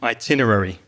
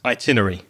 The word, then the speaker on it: itinerary: itinerary yeah I agree itinerary I've heard it said like this itinery I've heard that as well yeah yeah itinerary I think both pronunciations are probably accepted so no you said five syllables itinerary oh sorry I said